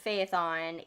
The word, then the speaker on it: Phaethon: Phaethon is how that is spelled, and that's how I'm pronouncing it. It's Phaethon.